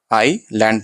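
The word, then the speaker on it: island: Strange आइलैंड यहां पे S silent रहता आई लैंड पढ़ना।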